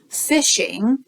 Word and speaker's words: phishing: thousands of messages randomly phishing right sounds like fishing but it's spelled with a pH so they're phishing to